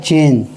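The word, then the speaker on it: change: Type, ई को silent नहीं पढ़ना, साइलेंट रहता है, ई को नहीं पढ़ना है। CHANG, क्या होता है? चेंज, ई को नहीं पढ़ना है।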